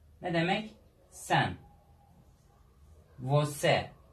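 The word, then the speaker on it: você: Vose. Ne demek? Sen. Vose. Bakın C ortada olmuş. Ünlüden önce gelmiş. Ne oldu? S oldu bu sefer. Gördünüz mü? S'ye dönüştü.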